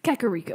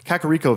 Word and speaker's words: Kakariko: Kirino Karim oh how do you say it Kakariko Cocorico I knew I was saying wrong Kakariko here we go I'm just kidding I talked